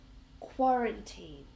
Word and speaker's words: quarantine: And finally this word can you pronounce it quarantine. Quarantine. and we stress the first syllable quarantine.